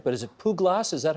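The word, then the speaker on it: Puglaas: Now, I don't know if I'm saying this right, but is it Puglas? Is that how you say it? Puglas, it's a name that I was given by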